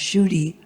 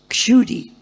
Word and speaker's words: Kshudi: But because it begins with that Sanskrit letter ksha, which is not even used very often in Hindi, and in English you can't spell it correctly. In English it comes out Kshudi. So sometimes they call me Kshudi, sometimes Shudi. In Sanskrit it's Kshudi, ksha, which is hard for American people to say because there's no ksha sound.